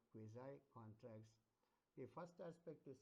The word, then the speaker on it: quasi: One is what is called quasi contracts, QUASI. It's also, some people pronounce it as quasi, some people pronounce it quasi, so on and so. But the correct pronunciation is quasi contracts.